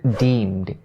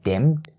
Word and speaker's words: deemed: is upon the word deemed. Deemed. So first of all, its vowel is the long E sound, so don't say dimmed, dimmed, because if you say dimmed, it means a totally different thing.